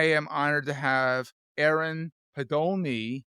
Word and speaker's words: Podolny: But I am honored to have Aaron Podolny. Did I say it right or did I screw it up? You nailed it.